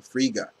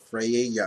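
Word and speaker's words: Frigga: go Gabi that's how you say her name Friga not Freya or whatever he said it do is priga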